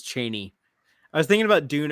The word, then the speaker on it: Chani: Or Chani. Yes. Frank Herbert says Cheney.